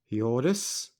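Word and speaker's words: Hjordis: is going to be yordis I'm going for the silent h when it's at the beginning nice cloak fur cloak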